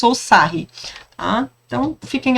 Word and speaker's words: Sarrus: Eu nunca soube, na verdade, se a pronúncia correta é Sarrus ou Sarri, tá?